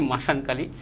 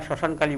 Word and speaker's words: শ্মশানকালী: করা হয় সেটাই হচ্ছে অনেকে বলে থাকি মাসানকালী সত্যি কথা মাসকালী বলতে কোন শব্দ নেই এরা গ্রামেগঞ্জে আসলে আমরা শ্মশানকালী বলে থাকি শ্মশানকালী বলে থাকি সেই ক্ষেত্রে তাদের উচ্চারণের উচ্চারণের চেঞ্জেসের জন্য ভুলের কারণে সেটা শ্মশানের জায়গায় মাসান হয়ে থাকে আর এই শ্মশানকালীন বিদ্যাটা